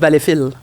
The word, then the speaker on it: Valleyfield: On dit Valleyfield. Y a-tu Valleyfield? des Ouais, on hymnes prononce nationaux pas- aux on prononce régates?